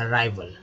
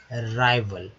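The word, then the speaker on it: arrival: अराइवल, अराइवल, यहाँ पर ए का जो उच्चारण होता है वो हो रहा है ए की तरह, तो होगा अराइवल। देखिए AL को याद रखिए, अल होगा तो भी में लगे तो वल हो गया, अराई। और आई का उच्चारण जो है, आई का उच्चारण हो गया आई के तरह, तो अराइवल यानी कि आगमन या पहुंचना या उपस्थिति।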